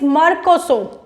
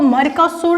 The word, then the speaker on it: Mercosur: Now moving to the next is मर्कोसो। इसको मर्कोसुर नहीं बोला जाएगा, इसको मर्कोसो प्रोनाउंस किया जाएगा।